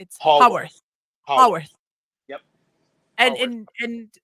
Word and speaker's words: Haworth: Dot Davies is gonna join us in a little while, and she's from Thomas, say it right, because I want to say Hayworth House, but it's Haworth.